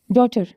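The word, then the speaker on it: daughter: rule for जी एच जहां जहां पर भी जी और एच वल के बाद आए वहां पर ये साइलेंट होंगे एग्जांपल देखें एग्जांपल्स देखें इसके यह देखि through ड्रॉट डॉटर light weight and right इसमें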